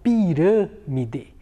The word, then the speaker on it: pirâmide: E na palavra pirâmide, olha só, pirâmide. A sílaba rã, ela é uma sílaba mais fechada. Então, quando o timbre da vogal é mais fechado, eu utilizo o acento circunflexo.